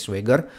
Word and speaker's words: Schwager: Ini buku yang baru-baru diterbitkan ya, memang karya Jack Schwager gitu ya, bacanya Jack Schwager.